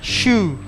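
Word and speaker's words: choux: cream polkadot namanya su tulisannya chock bukan cowok ini ya Coba Surabaya terusannya Shu jadi tulis bacanya Shu chome-13 dengan bukan sok gitu ya jadi kita bikin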